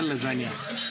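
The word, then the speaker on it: lasagna: लय आवड आता हे लजानिया मागवल ज्याच स्पेलिंग लय इंटरेस्टिंग आहे एल ए एस ए जी एन एच पण त्याला म्हणायचं लजाण्या पण नेहऱ्याचा उच्चार लजागण्याच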